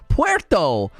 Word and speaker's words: Puerto: was it your podcast everybody kept calling him Porter Rock I'm like listen listen to me people of the internet that's not how you pronounce that word it's Puerto Puerto at least say Puerto you know Puerto